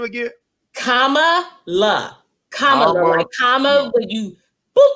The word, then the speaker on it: Kamala: that our names while they are beautiful present pronunciation problems sometimes i don't heard this lady called camilla i don't heard of it camilla kamala how